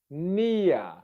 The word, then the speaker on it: near: Can you see that when I say it quickly, my tongue still goes forward and then comes back.